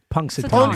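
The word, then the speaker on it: Punxsutawney: Poxatani. Punksatani. Punkatani.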